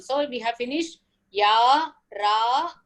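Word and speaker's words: र: to the next letter, Ra. Ra, it is like the Tavarga. It is like the tavarga murdhanyaha. That is, when you pronounce that ra, your tongue must touch the uppermost part of your mouth.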